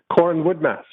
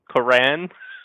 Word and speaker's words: Coran Woodmass: Corin Woodmass.